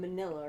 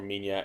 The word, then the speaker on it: Minya: You can see that they call him Manila, right? Minya. I think it's pronounced more Minya.